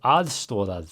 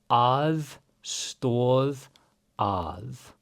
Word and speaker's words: aðstoðað: So get ég aðstoð að. Break that word into three parts. Aðstoð að. Again, we have an eð. So this is voiced. It's not aðstoðað, but aðstoð að.